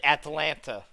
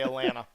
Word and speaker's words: Atlanta: right here ABD ABD Atlanta air Atlanta I would say Atlanta because that's the way how we say it here we don't say Atlanta we say Atlanta so that should be